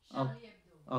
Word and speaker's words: Charlie Hebdo: How do you pronounce it? Charlie Hebdo? Charlie Hebdo.